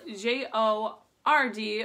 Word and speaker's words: JORD: The company JORD, it's spelled J-O-R-D, but it is pronounced JORD.